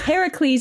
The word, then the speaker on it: Heracles: really annoying um yeah it's heracles heracles is the greek pronunciation and hercules it's like